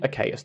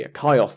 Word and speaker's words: Achaeus: back in episode 9 I mentioned achaeus the elder or I suppose it would be a chaos the Elder if you're following the Greek pronunciations the younger son of